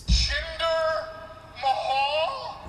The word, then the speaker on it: Jinder Mahal: So I'm saying that wrong, right, Jay? Jinder Mahal. Yeah, that's right. I believe it's Jinder Mahal. That's the right way to say it.